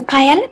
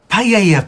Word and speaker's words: paella: home the last thing i remember was a piela pan coming towards me paella pan love that's how it's pronounced really well i never knew that oh